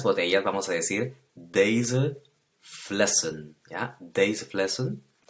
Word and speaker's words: flessen: Es importante notar también que la pronunciación de las últimas en en el plural es la e muda de la cual hemos estado hablando. No se dice flessen, sino flessen.